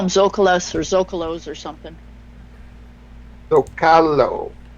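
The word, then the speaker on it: Zócalo: I think they call them Zocalos or Zocalos or something. Zocalo. There we go. Yeah, when I was living in Mexico. Emphasis on the next to the last syllable.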